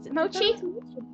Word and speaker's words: mochi: of four entire people is it mochi or moki mochi mochi okay okay we're gonna go